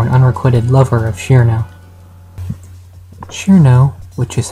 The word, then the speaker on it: Cirno: close friend or an unrequitted lover of Shiro Shiro which is how I choose to pronounce her name is a fairy with the